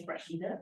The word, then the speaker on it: Rashida: which is Rashida, which is Arabic name.